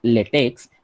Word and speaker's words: LaTeX: Second thing regarding the pronunciation, so the word is written, it's like latex, but it is pronounced as latex. Okay, it's a tech, it's not a text.